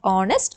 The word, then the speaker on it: honest: Because H is silent, we begin it with the vowel sound honest, O.